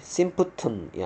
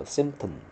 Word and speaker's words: symptom: 발음이 symptom이 아니고요. symptom. 이렇게 발음하면 되겠고요.